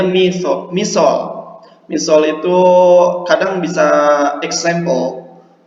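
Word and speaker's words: مثال: Oke, misol itu, ini dibacanya misol.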